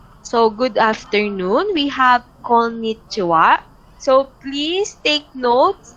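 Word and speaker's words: こんにちは: formal than ohio so good afternoon we have konnichiwa so please take notes it's written by ha hitanya in hiragana but pronounced aswa right comunan and romalje are so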